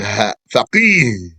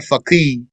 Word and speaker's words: faqih: Fuqaha, that's the plural of faqih, with the H sound at the end. Faqih, not faqih.